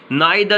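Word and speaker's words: neither: तो ये आइदा, नाइदा, देखिए नाइदा, न, आई और द। ऑलराइट, ये द का उच्चारण लंबा खींच रहे हैं तो ये वाला चिन्ह आना है।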